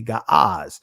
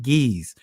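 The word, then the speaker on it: Ge'ez: The ancient is g some would say gaaz or some pronounce it geese.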